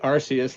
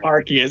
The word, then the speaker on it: Arceus: to pokemon a star he pronounced it arceus like i do yeah instead of arceus because i i keep